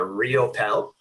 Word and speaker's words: Riopelle: last name so uh my last name is pronounced uh real pel okay so inside yeah